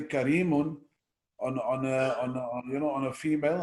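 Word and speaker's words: كريم: Or we call the person karim, but it's actually karim.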